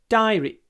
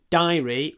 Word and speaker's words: diary: my diary every day diary you can say DIY diary or D it doesn't matter diary or diary Diary or diary we